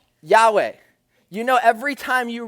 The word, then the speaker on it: Yahweh: a couple but that that is how it's pronounced yahweh you know every time you read yahweh in